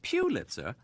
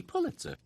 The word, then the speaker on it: Pulitzer: here's an interesting fact although many people pronounce it piter the correct pronunciation is actually Pulitzer oh my God what